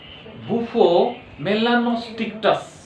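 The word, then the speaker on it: Bufo melanostictus: स्टिक्टस वाह बुफो मेलानोस्टिक्टस good tickets ना स्टिक्टस very good वाह समस्त बढ़िया पूछो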